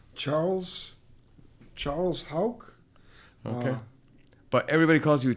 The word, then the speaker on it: Hauck: It's Hauck is the way that we've always said it, but it's spelled Hauck, H-A-U-C-K.